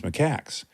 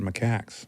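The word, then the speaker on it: macaque: No, cuz I was in classes and my primatology professor said Macak. But what if that was just his like They said Mak Mak.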